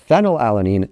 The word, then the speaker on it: phenylalanine: Phenylalanine is F because phonetically it starts with F, phenylalanine.